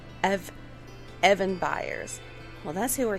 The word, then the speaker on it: Eben: me sharing the knowledge his name is evan and it's spelled e-b-e-n and it's short for